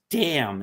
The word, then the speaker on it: damn: It a word is pronounced damn. It's a silent N, but you will not use that word."